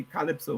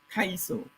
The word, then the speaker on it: kaiso: castles in the caribbean some people say calypso but that's an incorrect um presentation pronunciation it's a corruption khalifa has nothing to do with our people calipso was a greek um individual kaiso is what our people brought from africa so you have the